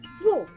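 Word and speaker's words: वे: In formal or written Hindi, it is "Ve", but in everyday spoken Hindi, it is usually pronounced as "Vo."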